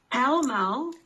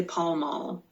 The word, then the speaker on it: pell-mell: So pell-mell, or you can also hear people say Pall Mall. We can actually pronounce it either way.